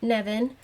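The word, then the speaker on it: Nemain: slide this is nevin it is spelled n-e-m-a-i-n but it is pronounced nevin um and in some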